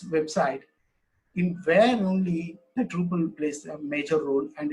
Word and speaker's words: Drupal: It's a Dutch word. Drupal. It's mean that how it's spelled. Truppel.